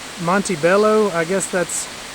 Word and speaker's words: Montebello: It's written kind of in Spanish, and as a Spanish speaker myself, I just have a tendency to pronounce it like Spanish, and I generally say Montebello.